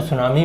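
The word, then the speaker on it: tsunami: ले लिया जाता है टी साइलेंट रहता है तो सुनामी वेव्स इन्ह बोल देते हैं थोड़ा सा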